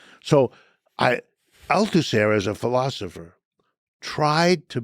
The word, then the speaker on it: Althusser: So, I Althusser as a philosopher tried to bring a version